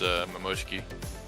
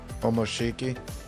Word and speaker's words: Momoshiki: the fight that he and Sasuke had against Momoshiki. Omoshiki.